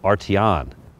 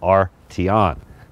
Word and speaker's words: Arteon: and bolts of this vehicle first how to pronunciate the name well Artie on AR is kind of separate from the T Eowyn so R T on the second is this exterior color now pretty